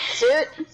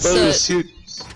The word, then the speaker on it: Soot: It's not suit. It's soot. It's soot. Well, Oh, it's like SCOOT.